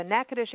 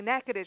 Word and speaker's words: Natchitoches: it for you because how we say NACA dish is not how it felt right Katherine that's absolutely